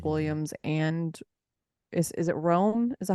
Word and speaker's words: Rome: Williams and is it Rome?